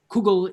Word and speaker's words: kugel: so ah sorry so cool kugel is the uh pronunciation of this term which is um shall we say endemic to the northern regions of europe those who typically identify as lithuanian or belarusian jews jews from further south